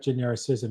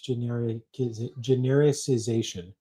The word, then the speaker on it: genericization: It's not genericism. It's genericization.